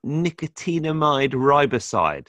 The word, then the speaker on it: nicotinamide riboside: He's into, do you know much about nicotinamide riboside? Am I pronouncing that right?